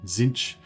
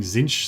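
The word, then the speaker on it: Tzeentch: boys do just Unbreakable zinch oh yeah actually right kresher's saying zinch some people pronounce like that as well zinc or zinch either of those is fine Suzuki no that's not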